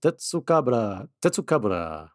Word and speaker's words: Tetsucabra: So, yeah, it's pronounced the same way in Japanese. Tetsucabra.